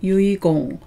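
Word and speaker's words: 遺言: 유품을 이힝 이힝이라고 하고요 유언이라고 할 때만이라고 발음 안 하고 유일하고 발음 읽는 점 유의하시기 바랍니다 그래서 유언을 유이공 유위공이라고 합니다 남길유자는 음동만 있고 훈독은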